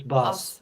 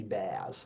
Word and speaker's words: Bas: think we're saying it wrong with our Australian accent, I think. Yeah, very Aussie. Sorry, is it Bas? It's Bas, yeah.